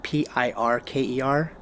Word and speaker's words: Pirker: And there was this case, and it was the FAA versus Raphael, and I think the name is pronounced Pirker, Pirker.